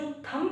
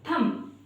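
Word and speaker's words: thumb: जबकि जो थंब है वो हमारा रोंग प्रोनंसिएशन होता है। सही प्रोनंसिएशन होता है हमारा थंब। यहां पर ये जो बी है ना ये साइलेंट है।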